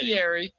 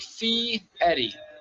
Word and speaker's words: Fieri: yeah so it's FTI so people say Fier everyone recognizes Fier which look we don't really correct all the time but it's like Fe Eddie so the r is